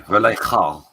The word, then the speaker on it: Vallejo: Vallejo. So the J in Spanish is pronounced ho. So I know. Vallejo.